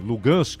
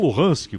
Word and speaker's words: Luhansk: Aliás, essa diferença de pronúncia é um retrato do problema, porque os russos, inclusive a população local, que é majoritariamente russa ou de origem russa, eles chamam a região de Lugansk e os ucranianos chamam de Luhansk.